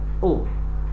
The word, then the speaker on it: aux: Tulisannya AUX, dibacanya O.